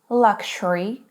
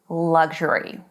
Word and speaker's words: luxury: It is luxury or luxury. Luxury in British English and luxury in American English.